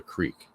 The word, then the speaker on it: creek: I think when I was a kid I used to say Crick but it's only because everybody around me said it but as I got older and I started understanding the concept of like pronunciating pronunciation enunciation things like that um it just made more sense to me to call it a creek uh now the girlfriend